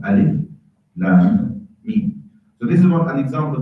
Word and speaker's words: Alif Lam Mim: So Alif Lam Mim is 3 letters. You don't turn them in, you don't read them as a word. You pronounce the letters themselves. Alif Lam Mim.